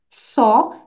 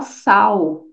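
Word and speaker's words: saw: ver s e e só s a w é um verbo no passado irregular alri toma cuidado com a sua pronúncia para você não falar sal e sim só qualquer palavra que tem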